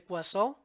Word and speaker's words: Poisson: Hay otra que se llama multinomial, hipergeométrica, de Poisson, así se pronuncia, normal, la distribución normal, la distribución T de Student y la distribución Chi cuadrado.